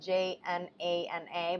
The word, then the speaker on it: Jnana: Jnana yoga, which is spelled j n a n a, but it's said Jnana yoga, is the yoga of knowledge or wisdom.